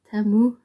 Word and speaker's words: Temu: Jag tänkte göra en timmehål idag, en lite speciell timmehål. Eller Temu, som det tydligen ska uttalas, men det struntar jag i.